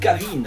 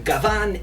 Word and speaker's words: Gavan: Not Gavin, I'm Gavan.